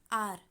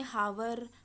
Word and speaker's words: hour: बाईं तरफ लिखा हुआ है HOUR, आर। शुरू तो H से हो रहा है पर इसको हम लोग R बोलेंगे। कोई भी HOUR, कुछ लोग हार बोलते हैं पर ये हावर, हार, ये सब नहीं।